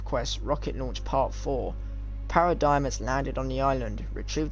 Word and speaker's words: Paradigm: the seven narrative quests rocket launch part four paradigms landed on the island retrieved the black box to check her message obviously i know i pronounced her name as parrot digging before which was wrong but obviously you do